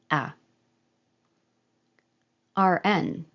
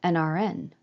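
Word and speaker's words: an RN: rat and rat m a RN which is a short form for registered nurse would I say a RN or n RN hm I'm pretty sure I say nrn but R is not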